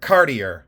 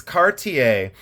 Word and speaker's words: Cartier: because I say in Ohio we say C cardier cardier no it's CTI cart ta and say in